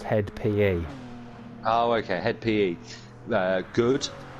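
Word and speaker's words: (hed) p.e.: In brackets, HED, close brackets, P.E. They're pronounced Head PE.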